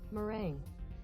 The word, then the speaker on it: meringue: Meringue. Meringue, that's how you pronounce that.